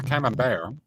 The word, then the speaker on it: camembert: So the camembert, T is silent, is Fucking also a snob.